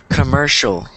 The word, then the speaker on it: commercial: I want to say so it ends in c i a l commercial so ends in the CIA the CIA is sh commercial so anytime you see